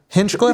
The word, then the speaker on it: Hinchcliffe: Hinchcliffe.